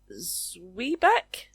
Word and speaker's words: Zwieback: Zwieback? Zwieback. It is a zwieback or a zwieback. Zwieback. So it can either be pronounced zwie, zwy, or zwieback.